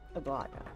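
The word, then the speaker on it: Aglaea: Aglaya. I keep forgetting that's how you say her name.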